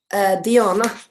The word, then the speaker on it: Diana: Rin also asked, how do you pronounce Diana? Diana, would I say in Swedish.